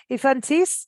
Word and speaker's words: Yfantis: very good um to musicians and it's ifantis did I pronounce it correctly yeah yeah absolutely you sound quick yeah I'm trying y-f-a-n-t-i-s uh so infantis and that's on bandcamp he's also on Facebook